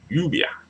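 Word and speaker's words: lluvia: just in case that the v in the word is pronounced as a b not a v so it's U be U be all right yubia all right so yeah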